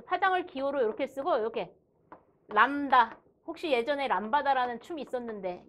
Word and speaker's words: 람다: 그래서 파장을 기호로 이렇게 쓰고 이렇게 람다. 혹시 예전에 람바다라는 춤이 있었는데 옛날 사람. 람다라고 읽어요.